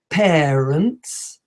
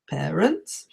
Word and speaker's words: parents: the a in parents when we should be saying it a little bit more like an e parents parents the fifth mistake is